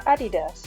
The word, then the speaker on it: adidas: now these adidas or adidas as we say in german which is the correct pronunciation i am actually picking